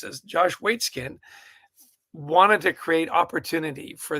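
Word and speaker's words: Waitzkin: And Josh, and I'm going to massacre his name here, but it's Waitskin, I think is how you pronounce this. Josh Waitskin wanted to create opportunity for these kids, the Raging Rooks.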